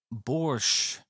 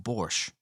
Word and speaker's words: borscht: just me or like I've always thought borsche you don't pronounce the T I'm pretty sure it's just borscht then again I I